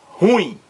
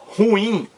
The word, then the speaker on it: ruim: Esta palavra muito bem se você pronunciou ruim não fique triste porque você faz parte da da quase totalidade do povo brasileiro que pronuncia essa palavra erroneamente está errada a pronúncia ruim se você cara Internauta pronunciou ruim Meus parabéns você está corretíssimo hoje são 29 de